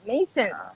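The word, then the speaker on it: Maison: Kung i-pronounce mo parang M-E-Y-S-E-N. M-E-Y-S-E-N. Mason.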